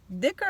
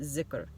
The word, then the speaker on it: dhikr: Dhikr I did not mention. Dhikr, or some, depending on the region, they will pronounce it zikr.